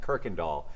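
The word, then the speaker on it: Kuykendahl: up in North Houston it's pronounced Kirk and doll if that ever comes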